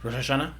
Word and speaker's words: Rosh Hashanah: two days yes I always say it wrong Rosh Hashanah Rosh Hashanah right so happy happy New Year